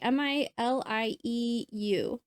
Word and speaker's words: milieu: M-I-L-I-E-U.